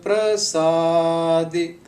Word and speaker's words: prasadi: Gur Prasadi. Once again, this is not par, this is pra.